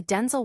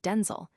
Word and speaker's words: Denzel: The actor clarified that the actual pronunciation is a more concise, Denzel, with a short L sound akin to the word able, rather than the softer, more drawn-out ale sound often heard, similar to gazelle.